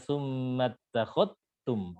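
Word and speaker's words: ثُمَّ اتَّخَذْتُمْ: Di lafadz ittakhadhtum, summa takhadhtum, summa takhadhtum, syubah bacanya dengan idgham zal ke ta. Jadi dibaca summa takhadhtum, langsung masuk ke ta. Zalnya ini. Nah, diidghamkan ke ta.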